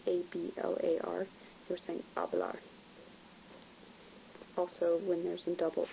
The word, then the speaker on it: hablar: things to note that in Spanish the H is silent so if you're saying L bar which is spelled H a boa are forcing hablar also when there's a